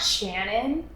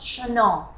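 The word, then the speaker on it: Chanel: the money shannon okay my name's not shannon it's pronounced chanal i'm french that is my bad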